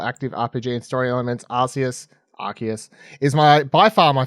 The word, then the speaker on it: Arceus: Sorry, Arceus. I keep saying it incorrectly, even though I officially know it's now pronounced Arceus after however many months of talking about this game in the lead up to release.